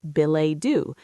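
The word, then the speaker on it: billet-doux: It's a French loan word pronounced bill.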